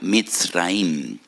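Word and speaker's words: מצרים: porque que la palabra Egipto en hebreo se pronuncia mit raim y en hebreo hay dos MS dos letras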